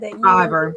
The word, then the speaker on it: Fiverr: Fiverr, yeah.